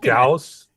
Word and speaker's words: Gauss: That's a witless pronunciation. I'm saying it on purpose. Is it Gauss?